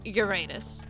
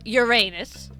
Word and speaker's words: Uranus: Listen, there is no good way to pronounce Uranus. Because you either say Uranus, which, you know, obviously, there's an issue there, or you say Uranus.